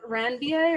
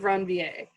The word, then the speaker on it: Ranvier: called the nodes of ranvier around veer i'm actually not pronouncing the french way because i took french